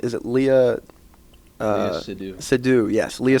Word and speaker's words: Seydoux: Seydoux, yes, Leah Seydoux. That's how it's pronounced.